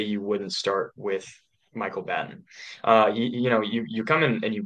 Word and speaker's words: Batten: I believe it's pronounced Batten, and I've seen it pronounced Batten, but I'm open to being corrected.